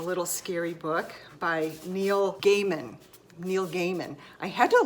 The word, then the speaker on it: Gaiman: scary book by Neil Gaiman Neil Gaiman I had to look up before I did this video on how to pronounce his name I thought it was Neil Gaiman like Neil Diamond like what the heck